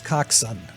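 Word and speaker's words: coxswain: but for the record proper pronunciation is coxson so she was the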